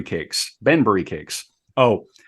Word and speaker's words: Banbury: food and in time added other items like Bunbury cakes Banbury cakes oh pronunciations we'll do our best uh I I've